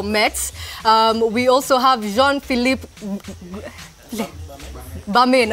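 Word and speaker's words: Gbamin: We also have Jean-Philippe Bamin, okay, so the G is silent.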